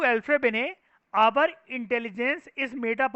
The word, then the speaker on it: Alfred Binet: लिखते हैं हम लोग इसको एल्फ्रेड बाइनेट करके हैं, प्रोनाउंसिएशन इज एल्फ्रेड बिने। एल्फ्रेड में डी साइलेंट, बिनेट में टी साइलेंट।